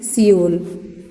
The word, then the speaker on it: Seoul: Which is साउथ Korea and the capital of साउथ Korea is सियोल. देखिए spelling is something different. सियोल, SEOUL, Seoul.